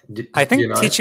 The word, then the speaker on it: Tichu: there is a famous card game in the IMO community, which is called Tichu. I'm not even sure if the pronunciation is correct. Tichu is the correct pronunciation.